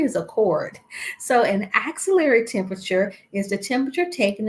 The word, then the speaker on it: axillary: how I say it I pronounce it as axillary it is not auxiliary auxiliary is a cord so an axillary temperature is the temperature